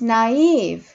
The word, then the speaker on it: naive: It turns out she's naive. It turns out she's naive. It turns out she's naive. Naive. 발음이 좀 특이하죠? 아예 액센트가 있어요.